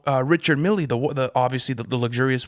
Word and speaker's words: Richard Mille: of like where they were explaining how uh richard millie the the obviously the luxurious watch is not pronounced richard miller like you know see that that's the type